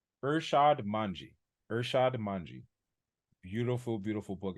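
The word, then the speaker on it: Irshad Manji: Don't Label Me by I always say her name is Ursan Minaj. Don't mind me just typing. It is Urshad Manji.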